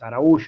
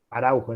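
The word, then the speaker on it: Araújo: portugués de Duarte Araujo es arao sería pero se escribe Araujo Araujo diríamos en español capaz que algo en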